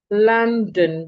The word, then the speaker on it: London: The first O sounds a la. Watch my mouth. A la London. The second O sounds like the sure. London. No O is silent. Both are heard.